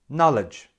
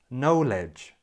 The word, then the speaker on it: knowledge: should sound like this knowledge knowledge nah ledge knowledge now be careful because a lot of people pronounce the first part of this word like the verb to know and unfortunately that's not